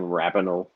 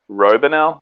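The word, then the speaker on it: Raboniel: you pronouncing this name i'm i'm saying rabinol inside my head yeah that's that'll that's it i think sometimes i actually say robinell i don't know why it's clearly an a yeah uh that's just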